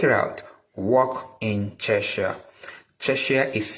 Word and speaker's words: Czechia: Czechia is spelled as Czechia.